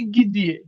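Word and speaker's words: где: দেখেন গিদে মামা, তো এটার উচ্চারণ কি গিদিয়ে, গিদিয়ে, গিদিয়ে মানে কি কোথায়, হয়ার, হয়ার।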